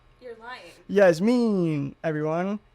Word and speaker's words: Yasmeen: do you say your name you're lying yeah Yas mean everyone Yas mean how do you say your caner caner I